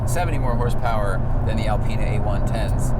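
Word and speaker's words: Alpina: if I think a-l-p-i-n-a the German BMW tuner is Alpena and I think the French Alpine a-l-p-i-n-e I mean I'm if I'm wrong I'm wrong but I'm I'm pretty sure it's Alpine a pronunciation check yeah I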